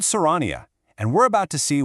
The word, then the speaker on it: Soraniwa: It's called Serania, and we're about to see what makes it tick. So, the platform we're digging into is called Soriniwa, and that's pronounced so raniwa.